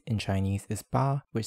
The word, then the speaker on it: 八: For pronunciation, the Middle Chinese ancestor of most modern pronunciations was bet. This becomes ba in Chinese, hachi in Japanese, and pal in Korean.